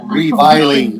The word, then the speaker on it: reviling: And then that last word, reviling. Reviling. Yeah, long I again.